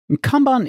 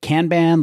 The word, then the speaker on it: Kanban: Is it canban like your uncle from the UP would pronounce it or conbon like Maline Khan would have said it?